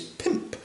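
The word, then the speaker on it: pymp: Okay, number five is pimp. Um, sounds a lot like um uh an illegal profession that's usually found in uh some parts of America.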